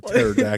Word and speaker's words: pterodactyl: No, he would come in on a fucking pterodactyl. Think of those assholes that pronounce the P at the beginning of pterodactyl.